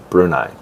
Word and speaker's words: Brunei: It's the pronunciation, Brunei.